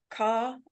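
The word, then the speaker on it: Khaw: But yeah, Cassandra Caw, is that how you pronounce it? Yes. Okay.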